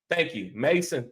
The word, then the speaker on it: Masan: Masan says, thanks, bro, and spelled different, but still pronounced like Mason. Okay, got you. Thank you. Mason, thank you, bro.